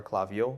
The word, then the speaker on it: Klaviyo: viel by the way the company's pronounced at Colegio clap your klaviyo where most people don't know how to pronounce ur the company name so probably